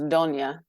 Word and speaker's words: Donnia: In Italian, it's pronounced Donnia, which I still get that a lot.